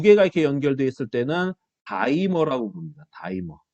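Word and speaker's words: dimer: 근데 이렇게 두 개가 이렇게 연결되어 있을 때는 다이머라고 부릅니다. 다이머. 두 개가 연결되어 있을 때는 다이머. 디머가 아니야, 디머. 디머 발음, 왠지 발음이 구리지, 그치? 다이머라고 얘기해.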